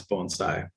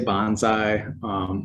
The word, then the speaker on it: bonsai: So you may have noticed how I pronounce bonsai. Many people say bonsai, which is a completely different word and a different meaning.